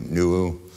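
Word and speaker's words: Nuʻu: The Hawaiians have a memory of a man called Nua, N-U, apostrophe U, Nuu, which I'm told is probably a better pronunciation of the original Hebrew for Noah.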